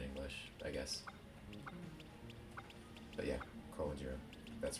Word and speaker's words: Komajiro: It's Komajiro in English because emphasis is on the G, and just because English. And in Japanese, it's Komajiro. Emphasis on the ma, and I don't know why it's different.